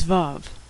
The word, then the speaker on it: Vav: The sixth letter of the Hebrew alphabet is Vav.